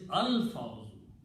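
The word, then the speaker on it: الفوز: the next word is al-fawzu, even though we are not pronouncing al when combined, but actual word is al-fawzu.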